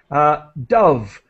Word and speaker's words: Dove: Dove, her last name is Dove, just like Dove. The word love in English, love.